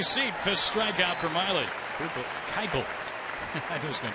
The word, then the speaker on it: Keuchel: Keuchel. I knew he was going to do that. Spelled K-E-U-C-H-E-L. It's pronounced Keuchel.